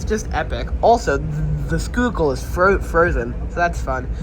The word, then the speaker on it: Schuylkill: Also, the skookal is frozen, so that's fun. Yes, the this river is spelled shykill, but it's pronounced skoo skoole.